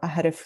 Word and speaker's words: Ahrefs: I'm a big fan of Uber Suggest, but they do not provide all of the information that Ashraf or Ahrif, the way they pronounce it, works.